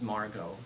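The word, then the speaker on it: Margaux: down like her neck her name is Margo without an axe Randi taught me the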